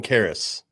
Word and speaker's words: Karras: local news stations in Toledo to find a pronunciation for Toledo's defensive coordinator. I'm going Karras. All right, lock in your predictions. Yeah, so his last name, for people that don't know, it's what, Kehres, right?